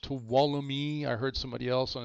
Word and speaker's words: Tuolumne: Tuolumne, that is pronounced Tuolumne. I heard somebody else on the stream call it Tulum. It's not Tulum, it's pronounced Tuolumne.